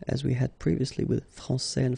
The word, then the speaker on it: français: So français, here you get this final S that you don't pronounce, so français, and then when you put this final E here, you will get française, okay.